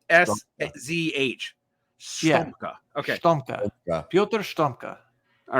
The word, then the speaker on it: Piotr: Well, actually, I mean, this is Piotr Stomka. Yeah, Stomka. So basically, like, it's Piotr. That's pretty self-explanatory.